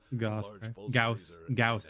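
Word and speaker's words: Gauss: Gaus, that's how you pronounce it.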